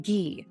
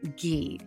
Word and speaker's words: ghee: what do I cook in I cook in ghee that's spelled g h e e ghee has um